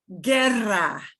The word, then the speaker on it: guerra: but it's not guerra, it's guerra, but we don't pronounce the U.